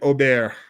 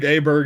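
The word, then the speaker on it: Åberg: This is Ludwig Aubert, and that is the proper pronunciation. Yep. Ludwig Aberg, if you want to be from people from my neck of the woods in the southern United States.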